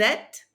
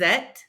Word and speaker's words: êtes: Vous êtes. Don't pronounce the ES on the end of the vous form. Vous êtes.